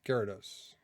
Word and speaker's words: Gyarados: I'm sure there's people that try to pronounce this different. I just say Gyarados.